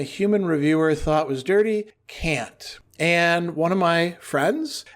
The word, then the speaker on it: Kant: Can't. And one of my friends and long-standing, let's say, connections noted the auto-generated transcript put K or lowercase k in most places. Clearly, you say can't.